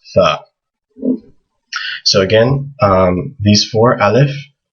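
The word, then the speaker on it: ثاء: dots above it and it makes a th sound like the word thing in english th can either be the or the there's different letters in arabic for both those sounds this one is just tha so again these four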